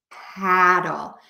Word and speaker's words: paddle: then we have the word paddle which has that very open American a sound and we have doll that's a better way to spell it paddle so petal you can